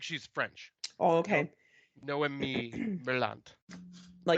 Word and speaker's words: Noemi Merlant: Noemi Merlant.